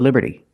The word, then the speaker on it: liberty: This is the Statue of Liberty. And we see that T in liberty is between vowels, so it's pronounced like a fast D.